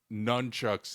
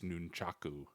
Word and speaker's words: nunchaku: But I do remember in the book they specifically say that you nunchucks is the wrong way to say it. It's nunchaku. Nunchaku.